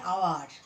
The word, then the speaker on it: hour: An hour. H-O-U-R. H consonant but pronunciation hour.